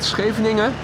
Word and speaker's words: Scheveningen: If you manage to pronounce the hard G, the CH, and the G properly, you're almost there already. The rest of the word is probably not that difficult. Scheveningen.